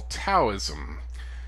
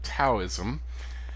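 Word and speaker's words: Daoism: is what we call taoism yes i know it's spelled with a d i don't speak chinese but for some reason we pronounce that d like a t so we call it taoism um the philosophy of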